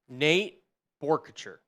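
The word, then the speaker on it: Nate Boerkircher: Nate Borchers. Is how you pronounce his name for those of you who were wondering at home.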